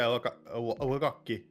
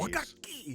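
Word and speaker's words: 和楽器: Oh yeah, Wagakki. Oh, You Speedy, you need to pronounce the double consonants in Japanese. Wakaki!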